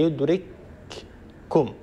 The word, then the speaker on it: يدرككم: أينما تكونوا يدرككم الموت، هي يدرككم، كاف ساكنة بعدها كاف متحركة، لكن ندغم الكاف الأولى الساكنة في الكاف الثانية المتحركة فيصير النطق بكاف مشددة يرتفع عنها المخرج ارتفاعة واحدة، يدرككم، يدرككم، كاف مشددة.